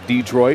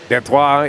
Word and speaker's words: Detroit: Valerie Watkins out of Detroit or his fellow colleague of mine says Detroit which I think is improper. I could be wrong. Detois is the correct French pronunciation.